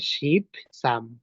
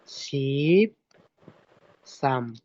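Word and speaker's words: 십삼: যাওয়ার মতো রাস্তা নাই তখন সেটার উচ্চারণ শিপ সাম তাহলে 13র উচ্চারণটা হচ্ছে শিপ সাম শিফ শিফ এখন যেহেতু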